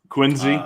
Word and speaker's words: Quincy: uh peabody yeah um quincy there's no z in quincy yup see the rest